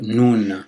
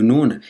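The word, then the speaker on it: نون: Là, on va voir la lettre Nun. Donc du coup, au niveau de sa prononciation, vous ne devrez pas trouver trop de difficultés. Elle s'écrit comme, ça prononce comme un N en français.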